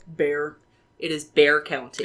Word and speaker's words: Bexar: county in Texas, and you spell this county Bexar. How do you say it? Bear.